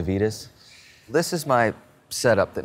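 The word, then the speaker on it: Avedis: recently switched over to these Avitus ones avid ice I've heard him pronounced both ways I'm gonna go with the Vitas this is my setup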